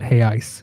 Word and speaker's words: real: yeah that's the um brazilians call it hay ice even though it's spelled with an r i'm not going to